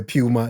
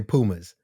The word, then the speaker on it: Puma: brand oh yeah so this is another pronunciation difference we over here say puma you guys say Pumas yeah Puma Puma I